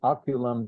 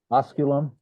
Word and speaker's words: osculum: Where it says Julius Aemiliae Oculum dot. So is Aemiliae in the dative there? The last sentence. Oh, would you care to repronounce that fourth word? Osculum?